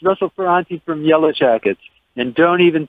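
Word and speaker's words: Ferrante: Yellowjackets keyboardist Russell Ferante. Am I pronouncing your last name right?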